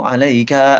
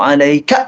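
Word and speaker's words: عليك: Common mistake di sini adalah di assalamu alayka. Banyak yang baca kaknya malah dipanjangin. Assalamu alayka ayyuhan nabiyyu. Assalamu alayka. Salah. Yang benar assalamu alayka ayyuhan nabi. Kaknya pendek.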